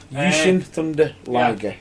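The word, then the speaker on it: Jushin Thunder Liger: Yushin Thunder Liger. On it. I thought I'd just pronounce it correctly because I know a certain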